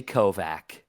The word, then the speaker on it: Kovach: mispronouncing it as well because I know another person with my last name and they say Kovac. So, I actually don't know how my last name is officially pronounced. I I know people with my last name that say Kovac and I and I'm the only person I know with my last name that says Kovatch.